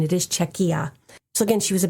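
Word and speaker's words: Czechia: I could be very wrong about that, but um I did look up the pronunciation. It is Czecha.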